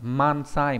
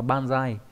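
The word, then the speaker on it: 万歳: Thế nhưng mà trong vạn tuế thì không đọc là mansai mà đọc là bansai nhá.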